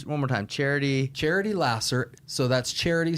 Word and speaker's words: Laser: more time charity charity Lasser so that's charity spelled like uh the pure love of Jesus pure love Jesus Lasser l a s e r okay spelled like laser pronounced Lasser okay um look truly